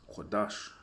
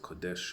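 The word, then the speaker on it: קודש: And we know that word there is Kodash, right? Or they pronounce it Kodesh in the modern Hebrew,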